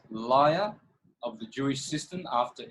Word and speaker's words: Lyra: were gifted this ability it's actually it's actually liar it's not Lyra oh excuse me excuse